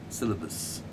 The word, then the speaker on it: syllabus: That's not pronounced syllabus, it's pronounced syllabus. That syllabus. That is syllabus and this is syllable. Syllabus, syllable.